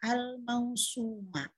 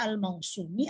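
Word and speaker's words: الموسومة: Ketahuan nih, mansub bil fathah al-mausuma. Jadi ketika ditanya bacanya apa, al-mausumi atau al-mausumu? Bacanya adalah al-mausuma karena dia adalah naat kata sifat dari bahsi. Bahsi sendiri adalah isim anna yang mansub.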